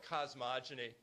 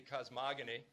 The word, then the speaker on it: cosmogony: in the course here I call it cosmogeny you can also pronounce it legitimately cosmogony I juster the soft G sound with that it sounds